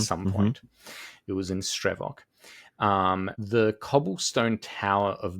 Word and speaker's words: Stravok: And it's spelled like this. S t r e v o k. Stravok.